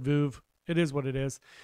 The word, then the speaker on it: Veuve: I believe it's pronounced Verve officially. I've heard the sommelier pronounce it Veuve Clicquot, but you know what I'm talking about. Everybody else calls it Veuve.